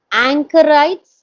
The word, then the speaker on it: anchorite: Before that, I was thinking to check two pronunciations with you. Um, Okay. Anchorites, is it that how it is pronounced in the next An- page?